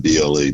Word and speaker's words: Humble: Well, my beginnings were in a little place called Humble, Texas, but there is an H in front of it. It's Humble, but if you're from there, you don't pronounce the H.